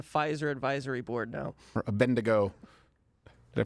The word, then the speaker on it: Abednego: Or Abednego. Did I pronounce that correctly?